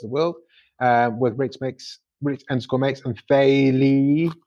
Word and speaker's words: Faye Lee: And before every recording, we ask people, hey, we're reviewing Scott Pilgrim.Vs the World with Rich _makes and Faye Lee. How do you say that? Faye? Faye Lee.